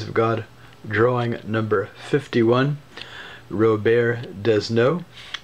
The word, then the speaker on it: Robert Desnos: God drawing number 51 Rober desno Robert desnos an American English pronunciation the uh famous world